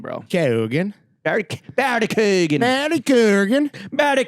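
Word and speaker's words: Keoghan: Kogan.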